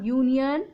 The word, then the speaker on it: union: Next, he is a union member. So union, the word is starting with the letter U, but the sound is Y, year. So we'll use here A, not N.